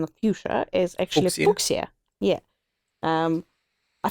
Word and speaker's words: fuchsia: Fuchsia, but also because it was named after Leonard Fuchs, who is a botanist and physician, actually.